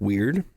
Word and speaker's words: wyrd: in is something called the Web of Weird, and it's spelled WYRD.